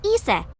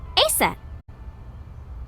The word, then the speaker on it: Isis: horus's mom is named Isis but an ancient Egyptian it's pronounced closer to ISA or ASA H how do I